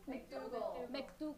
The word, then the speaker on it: McDougal: Cohen confirmed that Trump directed him to pay off Stormy Daniels and Carrot how do you pronounce that name? McDougal.